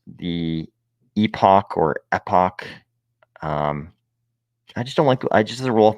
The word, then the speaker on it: epoch: makes people really mad I like to pronounce it epic epic which I believe is probably the wrong pronunciation um I don't think